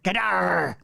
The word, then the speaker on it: Gadar: I'm reading it exactly as it's written. Gadar. With it almost Scottish-like, with the accent on the second syllable.